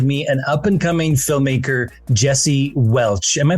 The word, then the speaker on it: Welch: And I have with me an up-and-coming filmmaker, Jesse Welch. Am I pronouncing that last name correctly? You are, just like the grape juice.